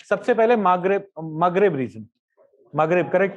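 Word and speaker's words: Maghreb: सबसे पहले मगरेब reason, मगरेब correct pronunciation ना।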